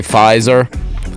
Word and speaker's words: Pfizer: I'm pretty sure you're supposed to say Pfizer.